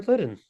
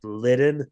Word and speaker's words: Litten: That's an insider joke because uh I used to always say it like litten with a D, but it's litten with a T.